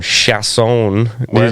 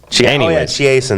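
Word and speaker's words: Chiasson: They were pronouncing her name Chasson. Yeah, that was weird. I'm like, what is she, French or something? I never heard that. They had always been calling her Chiasen. Chiasen, that's right.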